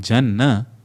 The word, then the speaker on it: Jana: The na in Jana and na in Gana are distinctly different.